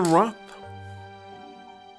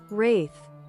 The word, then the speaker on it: wraith: How should pronounce the wrath? Let me check. It's much easier to just say Zdang, which will mean completely the same. Wraith.